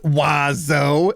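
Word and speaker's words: oiseau: No letter is pronounced the way that it should. And there are seven of them. It's pronounced wazo.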